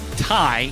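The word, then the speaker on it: Thy: like i think it's thai yes so it is spelled t-h-y but pronounced tai and he is replacing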